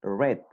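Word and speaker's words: read: leer disculpen let el pasado va a ser red como el color rojo como rojo red de red esa va a ser la pronunciación ruiz leer tiempo presente red leyó tiempo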